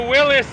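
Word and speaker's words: Willys: here we are driving in the Wrangler 4xe Willies Edition or the Willis Edition as it should properly be pronounced but even the Jeep folks call it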